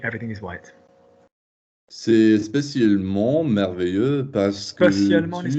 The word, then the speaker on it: merveilleux: Merveilleux. Would you spell it? M-E-R... Good. Could you tell me why M-E-R is pronounced mer? The R makes the E go high.